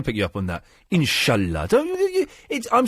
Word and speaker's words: inshallah: Third point, why do you keep saying insular after every single thing? Inshallah. What's insular? Inshallah. No, the proper pronunciation is inshallah.